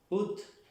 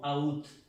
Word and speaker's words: août: La U con un acento circunflex se pronuncia ut. Desde aquí la O y la U suena U y la T. Ut, no out, no.